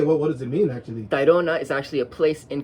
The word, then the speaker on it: Tayrona: figure out how to how do I pronounce it yeah that's probably going to be an issue for some people I've received terona right that's how I said it which is fine but